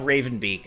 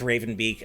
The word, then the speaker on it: Raven Beak: name it's fine okay it rhymes with haven leak how about that um i i really no it uh raven beak uh is my my